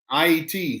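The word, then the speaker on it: Haïti: at uh born in haiti correct uh i iet is how you pronounce that uh with a french accent oh yeah uh john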